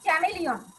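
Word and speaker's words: chameleon: তারপর হচ্ছে এটা উচ্চারণ হচ্ছে চ্যামেলিয়ন, গিরগিটি মানে তোমার হচ্ছে টিকটিকির থেকে একটু বড়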